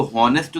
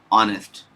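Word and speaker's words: honest: इसको होनेस्ट तो लिखेंगे नहीं। यह तो गलत है। ऑनेस्ट अब आ क्या है? एक स्वर है। अगर आप ध्यान से देखिए तो यहां पर जो एच है वो साइलेंट है। ऑनेस्ट ऑनेस्ट एच एक तरह से साइलेंट होता है। जब बोलते हैं pronunciation बिग्स with the wall sound O ओ ऑनेस्ट ओ डिग तो इसीलिए एच नहीं बोला जाता है इसमें।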